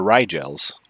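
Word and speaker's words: Rigel: with to the rig i hate calling them the wriggles because that's not that's supposed to be pronounced oh the rye gels yeah exactly it's interesting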